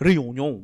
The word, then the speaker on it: Réunion: No, it's okay, it's written Réunion with a little accent on the E. Yes. So he said, just say Réunion pretentiously. Oh, that's correct, actually la. Correct. Réunion.